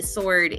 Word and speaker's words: sword: um but no apparently sword is pronounced without the W is it though I